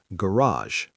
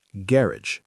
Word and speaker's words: garage: garage American, garage. British, garage. The stress is on the first syllable in British English and the final syllable sounds completely different.